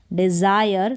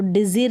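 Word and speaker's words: desire: डिज़ायर, तो डिज़िर नहीं पढ़ेंगे इसको, डिज़ायर।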